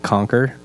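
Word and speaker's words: Qonqr: Scott Davis I'm the CEO of Conker and it's spelled q-o-n-q-r if you're out looking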